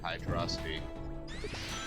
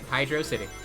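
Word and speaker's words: Hydrocity: Like, this one is clearly referencing Hydrosity. Yep, Hydro City. Potato, potato. Fine. I love that both pronunciations are canon.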